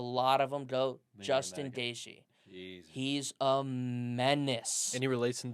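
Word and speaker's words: Gaethje: Wayne gasy oh no it's it's G it's gishi but it's spelled like it has like a th somewhere in there or something yeah it's kind of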